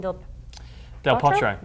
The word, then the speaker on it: Del Potro: We have Novak, who's going to be playing against Juan Martín del Potro.